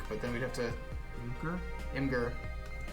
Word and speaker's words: Imgur: then we'd have to imgur that's just pronounced like imager i thought i always